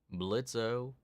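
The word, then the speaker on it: Blitzø: Rocking that Blitzo. Sorry, the O is silent.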